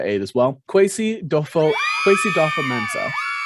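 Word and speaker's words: Kwesi Adofo-Mensah: as well quasi dofo quasi dolpha mensah is i believe how he pronounced it in his press conference today quesada mensah sounds like they cut off that first o so it's not quasi-odofa it sounds like it's quasi-dopha-mensah i see how the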